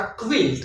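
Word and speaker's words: quilt: इस तरह क्विल्ट, क्विल्ट, क्विल्ट ये जो रजाई होती है इसको भी हम क्विल्ट कहते हैं, क्विल हम नहीं कहेंगे, ये इसकी रॉन्ग प्रोनाउंसिएशन होगी।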